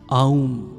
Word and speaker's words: ওম: ওমের আসল উচ্চারণ আউম।